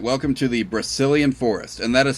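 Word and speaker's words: Brecilian: what we can all right welcome to the Brazilian forest and that is spelled b r e c i l i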